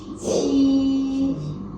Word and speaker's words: 七: The second one is 七，七。 The difference between 鸡 and 七 is about the a. Okay, when you pronounce the 七, you will find the strong a outflow.